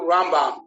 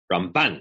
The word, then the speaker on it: Ramban: So I read ahead to Rambam.